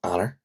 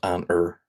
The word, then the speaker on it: Eanáir: really really harsh, so Eanáir, Eanáir, and just simply Eanáir, Eanáir, Ean-air. Because it has the A fada in it, uh which in Ulster Irish makes it like a very harsh ah ah ah.